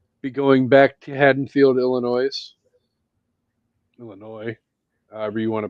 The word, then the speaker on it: Illinois: episode, we will be going back to Hadenfield, Illinois. Illinois, however you want to pronounce it. Tomato tomato. No, it's literally Illinois. It is how I pronounce it.